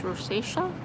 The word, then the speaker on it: rosacea: Roisha ro I don't know how to say it proper. It's rosacea and yeah so I look like a tomato